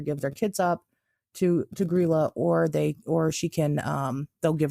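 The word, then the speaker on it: Grýla: Okay, so first, they have this lady, which I think it's pronounced Grilla, is how they say it, Grilla.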